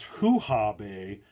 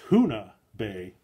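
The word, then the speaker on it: Hoonah Bay: to a place that I mispronounced earlier as Hoo-Ha Bay. It's Hoona Bay. I think that's how it's pronounced.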